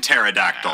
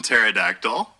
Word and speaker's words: pterodactyl: it's silent, like in Pterodactyl. Yeah. And that's why chicken checkmark. The T is silent in Pterodactyl.